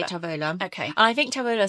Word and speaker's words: Tavola: So it's Tavola. It is beautifully pronounced. Thank you. I've been practicing. Beautifully. The Aussie in me, so I had spent a lot of years in Australia, wants to say Tavola.